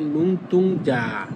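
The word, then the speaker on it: 눈동자: তখন এই যেটা হবে দুইবার। তখন হবে নুনতুংজা।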